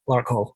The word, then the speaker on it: Larkhall: Okay, Larkhall. Is that how we're pronouncing this town in south-east of Glasgow? Is that right? Larkhall. Yeah, Larkhall.